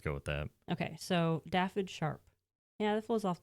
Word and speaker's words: Dafydd: Daffid Horn. I'm going to try once. Daffitorn? Daffid Daffid. Horn. Horn. Yeah. The first name is spelled Dafydd. They go by Daff. Could also possibly even be pronounced David.